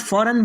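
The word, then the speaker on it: foreign: इसके बाद का नेक्स्ट रूल है, जब जी के बाद एन आ जाए तो जी साइलेंट होगा। यानी जी के बाद फ़ौरन बाद एन आएगा तो जी साइलेंट हो जाएगा।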